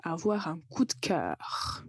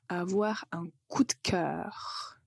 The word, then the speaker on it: avoir un coup de cœur: un coup de cœur avoir un coup de cœur quand vous le prononcez très vite vous allez juste entendre une lettre T au milieu avoir un coup de cœur si on a un